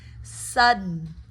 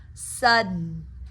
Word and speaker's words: sudden: Sudden. Sudden. Here you're really almost doing it as a stop. D. Sudden. You're catching the D in the roof of your mouth.